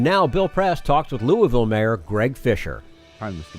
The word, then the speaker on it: Louisville: standup democrats and now bill press talks with Louisville Mayor Greg Fischer I'm the mayor nice to